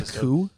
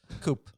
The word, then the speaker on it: coup: Do you mean a coup? Coop. You're saying coop like for chickens? I think you mean a coup. It is spelled like that way. Like a coup d'etat.